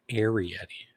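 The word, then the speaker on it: Arrietty: I could see if Arietti gets into it with someone, I could see it being Sam. You got to say it right. Arietti. It's like air.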